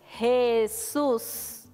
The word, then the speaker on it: Jesús: Fíjate que en la sílaba sus hay una mayor fuerza que decimos cuando decimos el nombre de Jesús. Eso es porque tiene una tilde en la U.